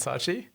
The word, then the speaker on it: Saatchi: How is that pronounced, Jay? Do you know? It's Saatchi and Saatchi.